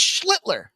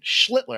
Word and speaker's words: Schlittler: And it's Schlittler. That's right, Schlittler. I told you guys last week I worked with a guy that's damn name was almost identical. I'm fairly confident in that pronunciation.